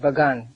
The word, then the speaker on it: Bagan: It is not pagan, but Bagan. It is spelled Pagan.